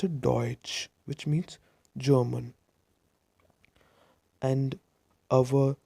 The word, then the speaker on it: Deutsch: German word deutsch that's why we do not pronounce ad ouch we pronounce a deutsch which means German and our second if tongue